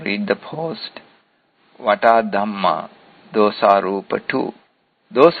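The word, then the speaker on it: dhammā: What is detected by this mana indriya are called dhamma with a long A at the end. This is different from dhamma as in Buddha Dhamma.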